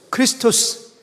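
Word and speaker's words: Χριστός: 따라 읽어 볼까요 크리스투스 크리스토스 그리스도를 의미합니다가 근데이가 원래는 x 발음이 아니고 k 발음이에요 k 발음 크리스트 그 크리스토스 마스 거기에 경배하다 예배하라는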